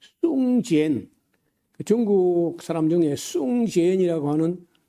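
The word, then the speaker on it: 宋健: 하고 우리가 귀에 익어서 80년대 하지 벌써 40몇 년 전인데 그때 그 숭젠 중국 사람 중에 숭젠이라고 하는 우리가 한자로 쓰면 송건입니다. 송건이라고 쓰는데 중국 사람은 숭젠이라고 읽어요.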